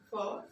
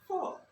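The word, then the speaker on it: four: ওয়ান two three ফোর ইংরেজরা বলছে ফোর টার ক্ষেত্রে একটু খেয়াল করে শোনো সবাই ইংরেজরা বলে ফোর শেষের আর এর উচ্চারণটা করে না অর্থাৎ শেষের ভাওয়েলের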